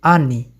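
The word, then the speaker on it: они: Kalau mereka jadi ani, penekanan nggak di o ya, ani, maka bacanya ani.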